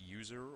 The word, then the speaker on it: usr: Moving on from temp, we have USR, pronounced user or Universal System Resources.